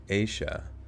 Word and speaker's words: Asha: to tell you now asha is pronounced asia i was friends with